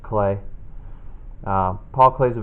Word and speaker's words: Klee: about the artist Paul clay it looks like CLE but it's pronounced clay uh Paul Clay is